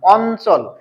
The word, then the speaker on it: অঞ্চল: তখন কিন্তু আমি ন বলতেছি ইয় বলতেছি না অঞ্চল তাহলে এটার সঠিক উচ্চারণ হচ্ছে অ তারপরে হচ্ছে এখানে লিখলাম ল